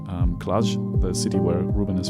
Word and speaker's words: Cluj: how to pronounce um klaj the city where ruben is from think of measure is the last sound so clash and it looks like